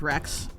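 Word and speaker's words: Wrex: So, the first thing that that I always like to talk about with Rex, his name, Rex, even though it's spelled W R E X, the the the name Rex is, you know, pulls from the Latin word for king, yada yada.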